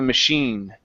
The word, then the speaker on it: machine: Once he had given the machine. Once he had getting the machines. Uh, machine. Machine only with an N. Machine. Machines. Okay. This is an sound. It's a French word. Sh. Machine.